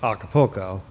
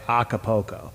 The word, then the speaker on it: Acapulco: pronounce it well yeah I think the correct pronunciation of that is Acapulco with kind of an old sound but most minnesotans would probably say Acapulco Acapulco I was like